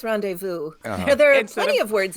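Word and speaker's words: rendezvous: phonetics all all right the r Vu does not end in v it is not the r it is to me the renesas I often like to call it please no yeah but no it's randevu there are plenty of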